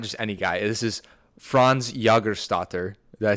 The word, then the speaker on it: Jägerstätter: This is Franz Jägerstätter.